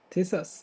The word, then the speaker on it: Thisas: By the way, how is pronounced your name? Thisas is okay.